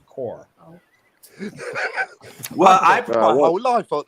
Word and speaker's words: Corps: I thought it's pronounced Corpse.